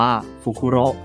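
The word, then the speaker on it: ふくろう: ฮูก นก ฮูก ูป ใน ภาษา ญี่ปุ่น จะ ออก เสียง ว่า ฟูคุโร ซึ่ง จะ พร้อง เสียง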